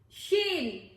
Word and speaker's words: Shein: Shein!